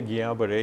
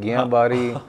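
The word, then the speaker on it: Guillain-Barré: अच्छा, कुछ लोग गुलन बार कहते हैं, कुछ लोग गियां बारी, वो लिखा जाता है गुलन बार, लेकिन जो इसकी प्रोनाउंसिएशन है, जो कि ये फ्रेंच लोग थे, तो फ्रेंच में L इज साइलेंट, तो गियां बरे ये इसकी सही प्रोनाउंसिएशन है।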